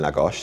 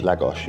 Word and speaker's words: Lagos: in the market in Lagos, haven't we? Sorry I keep saying it wrong. Lagos. Lagos. I Well, I always copy Ben and he says Lagos. Lagosh. Yeah. Okay.